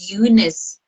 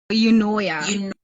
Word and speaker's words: Eunoia: Is it Eunice? No, Eunoia. Eunoia.